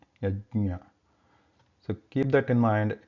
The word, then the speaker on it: यज्ञ: We should not pronounce it as a the, yajna. It is yajna, yajna.